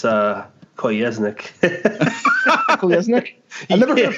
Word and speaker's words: Kolesnik: You guys keep saying it funny. It's Kolesnik.